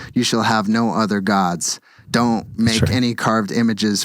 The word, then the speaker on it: Gad: G-A-D, which is pronounced God, is the God.